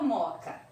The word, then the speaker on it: Mooca: mooca tá moto a pessoal se escreve assim tá bom e fala moka tá uma igreja da mooca não é possível saber